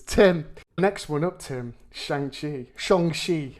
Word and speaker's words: Shang-Chi: Shang-chi, as it's now correctly pronounced, if you're to believe Kevin Feige. Shang-chi.